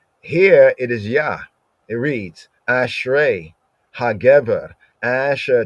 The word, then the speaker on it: Jah: In German, the J is pronounced as a Y sound. So that means that then when they translated JAH, they were not saying Ja, they were saying Ya.